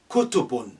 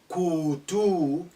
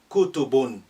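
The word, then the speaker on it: كُتُب: If they say kutubun, don't say kutu, la, short, kutubun.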